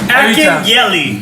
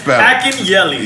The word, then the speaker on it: Akinyele: Akinyele. That's the way I say it. I say it like Akinyele.